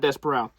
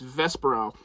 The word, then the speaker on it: Vesperal: It's not Desperal. It's Vesperal. Or Vesperal or something.